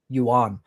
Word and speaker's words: yuan: The Chinese the yuan yuan.